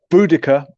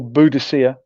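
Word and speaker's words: Boudica: Buddaca or Buddhisa depending on uh how you like to pronounce her name.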